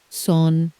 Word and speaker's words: sont: Four letters on paper, one nasal syllable out loud. The silent letters send their regards.